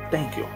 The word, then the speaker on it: thank you: Não é thank you. Thank you quer dizer thank você. Thank you. Thank você. Ok? Thank é thank. You, você. Thank você. Mas não. A forma correta de pronunciar é dessa forma.